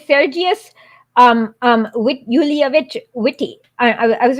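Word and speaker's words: Witte: Yeah, it is Witty. So yeah, it's Sergius Yulievich Witty.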